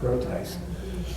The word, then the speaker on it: Groothuis: I don't know what it's from, but it's it's pronounced Groothuis.